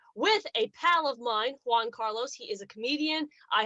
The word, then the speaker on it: Juan Carlos: crown debate then just let me pronounce his name not that you're like ho carlos it would be juan carlos he probably would appreciate if i could roll my r car i can't carrots